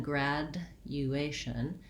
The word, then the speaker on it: graduation: was mentioning before so rather than graduation we that d u combination sounds like a j sound and so um if